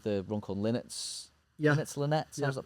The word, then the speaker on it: Linnets: Linnets Linnets. How's it pronounced? Linnets, yeah.